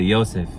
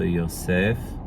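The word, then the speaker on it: יוסף: So in modern Hebrew they'd say Yosef, just like Joseph. But in biblical Hebrew you still emphasize the last part of the name, so Yosef.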